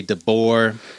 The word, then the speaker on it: Debord: by G Deo G deor deor yes I I so I've always pronounced his name g Deo I've heard some folks say dor I am a midwesterner